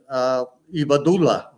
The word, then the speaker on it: Ibadullah: And then following him was Billy Abdullah, Khalid Ibadullah, I think, in this part of the world is the way you would pronounce his name.